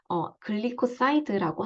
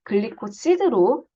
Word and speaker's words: 글리코시드: 발음상으로는 글리코사이드라고 하고요. 그냥 글리코시드라고 발음하셔도 무방합니다. 표기법은 글리코시드로 표기를 하는 게 정확한 표현입니다.